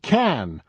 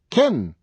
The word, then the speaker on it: can: I am called Can, but what you're going to hear most times is Kin. What do you want to know? You can ask me anything. Did you hear it? I become a very quick small sound.